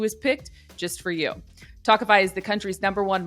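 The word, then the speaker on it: Tawkify: feel your best when meeting new people with tokify that's spelled t-a-w-k-i-f-y you'll feel confident that you're meeting someone special who is picked just for you talkify is the country's number one modern matchmaking service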